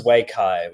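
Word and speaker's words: Waikay: Uh that was Wayai, which is spelled W A I K A Y.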